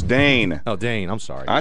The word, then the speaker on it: Dane: Dan Eagle. No, it's Dane.